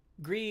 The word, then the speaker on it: Gris: it should be oh gree is the French word for gray is pronounced Gree I'm a I'm uncultured